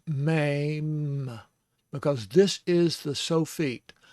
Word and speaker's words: Mem: And of course, the spelling in English, I've always seen it spelled M-E-M, but that makes me say mem.